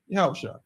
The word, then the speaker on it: Yahawashi: sir right yahawashi right so the proper trans literation right yahawashi right that's the proper transliteration proper pronunciation of the word but of course when